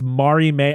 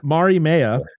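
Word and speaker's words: Mariemaia: he finds out about Maria is it what is it Maria how do you pronounce it how do you say her name Ari man it's Mari May okay Jesus yeah Mari Maya yeah and it gives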